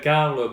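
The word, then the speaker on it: Karl: comment aller plus pour pareil ah je m'appelle Carle K a r L B comme bébé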